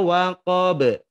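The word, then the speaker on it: وَقَبَ: Nah, teknik waqab itu kalau di tulisan Bapak Ibu, tulisannya adalah difathahkan. Waqaba, fathah. Tapi dibacanya disukunkan. Jadi ghasiqin idza waqab. Seolah-olah Bapak Ibu melihat bahwa huruf ba bukan berharokat fathah tetapi berharokat sukun.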